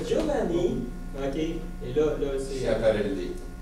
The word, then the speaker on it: Schiaparelli: Schiaparelli. Schiaparelli. Merci beaucoup. Je cherchais la prononciation de ce mot-là.